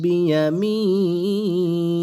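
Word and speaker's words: بيمينه: খারাটা সাকিন হয়ে যাবে নুন হাজের নি এরকম উচ্চারণ বিয়ামিনি বাহু বিয়ামিনি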